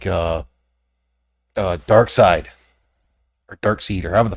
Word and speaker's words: Darkseid: occasional thing with, like, Darkseid. Or Darkseid, or however the fuck his name is pronounced. Darkseid. Well, it's not spelled side. It's spelled C-E. It's like Saeed.